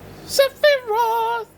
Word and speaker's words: Sephiroth: Sephi Roth.